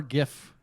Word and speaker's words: GIF: it is Ubisoft uh is it Jeff or GIF for you it's I'm a gift guy well that's correct yeah